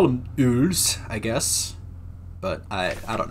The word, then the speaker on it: Eule: Yule or Ule? I want to say the German pronunciation is Ule.